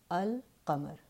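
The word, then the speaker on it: القمر: In qamari letters, you do hear the lam al-qamar.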